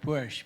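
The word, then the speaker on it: Busch: My name is Bush, but it's spelled B-U-S-C-H, not S-H.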